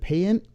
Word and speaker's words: Payant: Is it PAYANT? Yeah. All right. Oh, we got it right on the first shot. Sarah PAYANT.